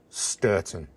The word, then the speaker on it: Stourton: mispronounced place names and finally I got the same pronunciation twice sturon a while ago I had asked about this on Master done and from an old friend I got the same answer ston and of course I